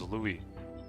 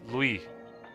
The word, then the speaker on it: Louis: my name is Louis, or my grandma might say Louis, but it's almost like she pronounces it like with a double L, like in Welsh. So instead of just saying Louis, she'll say Louis, but it's like that double L sound.